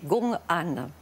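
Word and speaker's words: gong'an: Alors, le COAN, on a gardé ce mot, mais c'est la prononciation japonaise d'un terme chinois qui est Gongan.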